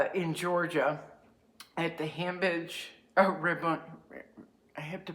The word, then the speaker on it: Rabun: I am in, okay, I am somewhere in Georgia at the Hambidge, Rabun, I have to pronounce this correctly. It's like Raven, but it's not. Rabun, R-A-B-U-N, Rabun Gap, Georgia, which is right on the border with North Carolina, South Carolina.